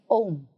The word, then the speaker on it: ohm: unit of course in ohm the H is silent types of electric resistance